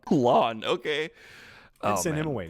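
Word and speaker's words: Lan: fell alike passed his ring to his son lon mandragoran and send him away i didn't even catch that pronunciation my first time through this video what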